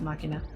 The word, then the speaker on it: machina: inna cinema monomakh Ian I think it's machina sounds actually pronounced machina let's do PvP with